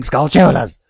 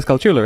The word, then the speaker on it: Skulltula: I've encountered pronounce it Skulltula. Like, they stress it oddly. Like, how would you go about stressing it? Well, the reason they're called Skulltulas is because it's Skull Tarantula?